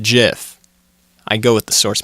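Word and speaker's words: GIF: adhere to that I am also somebody who pronounces it as jiff so fight me the creator said jiff I go with the source material okay so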